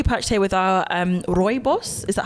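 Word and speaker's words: rooibos: we are currently parched here with our um Roy boss is that how you say it yes yeah perfect oh fabulous um our Roy boss tea it's my first time trying it so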